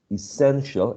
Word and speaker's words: essential: Same thing with, for example, I don't know, divinity or essential, because when we say essential is the second syllable, right?